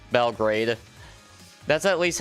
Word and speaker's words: Belgrade: your capital is Belgard. Like, just B-E-L, then... Wait, Guard... Or is it Grade? It's Grade, isn't it? Not Guard. You dingus. Belgrade.